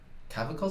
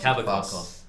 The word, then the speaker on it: Kavakos: Is it Cavacos? Cavacos. Sorry, Cavacos, if you're watching this.